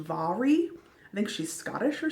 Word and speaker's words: Mhairi: It says in the back that her first name is pronounced Mhairi.